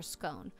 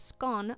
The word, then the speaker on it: scone: two different pronunciations for scone one pronunciation is scone like gone and the other is scone like tone and we all know